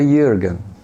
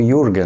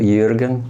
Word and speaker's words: Jürgen: trema e aí ficou Jürgen, né? É mais comum o entendimento pela leitura e pronúncia, mas o correto é Jürgen, como se fala de origem alemã.